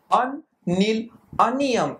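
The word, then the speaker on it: unnilunium: So what is the pronunciation of this name? Un, nil, unium is the name of the 101 elements.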